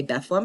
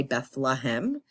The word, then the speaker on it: Bethlehem: And I say Bethlehem because that's how you say it if you're from there. If you're not from there, you say Bethlehem, right?